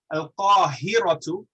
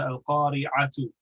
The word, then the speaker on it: القاهرة: I have to correct your pronunciation on that because you said Al-Qari'atu, which is the day of judgment.